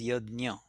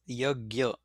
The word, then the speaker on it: yajna: You see, the word yajna in Marathi, we pronounce that word, or we are used to pronouncing the word as yajna. In classical Sanskrit, they spell it as Y-A-J, yajna. That's how the pronunciation is. In Hindi, they will pronounce it as yagya, and in some other languages, they may also pronounce it as yagna. So, there is a different way in which even this word can be pronounced.